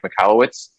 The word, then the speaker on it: Michalowicz: today we have on very special guest mike michalowicz and i pronounced that right correct you nailed it you